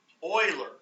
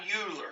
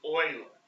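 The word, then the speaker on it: Euler: something called Oiler method Oiler is how you pronounce that it's not UL it's not uler I know it looks like uler it's Oiler I thinkman probably says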